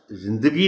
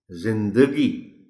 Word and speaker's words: زندگی: آپ بتائیں کہ یہ لفظ زندگی نہیں، زندگی۔ خاطر، نظاروں، یہاں اگرچہ